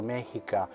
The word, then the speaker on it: Mexica: Mexica, pronunciato Mexica, originale per Azzecco, giuro che essendo al 95%